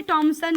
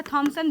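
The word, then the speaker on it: Thomson: जे टॉमसन ने की थी, या थॉमसन भी कह सकते हो। अलग अलग बेटा जो है प्रोनाउंसिएशन है।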